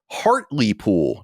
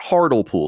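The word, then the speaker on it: Hartlepool: Ben kerfoot wrote in said hi CNC it's pronounced Harley pool not hardle pool so we talked about this town where they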